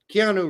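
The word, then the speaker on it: Keanu: bear wants you to pronounce keano again keano Reeves I know I said Kino Reeves like Kino Reeves he's got a gambling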